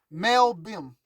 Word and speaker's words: Malbim: So I'm giving you Mel Bim. It's spelled M-A-L-B-I-M. That's his name, so make sure you research him.